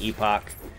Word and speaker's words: Epoch: It's actually the shard of the Last Epoch. So I know technically it looks like Epoch, but they pronounce it Epoch in this game.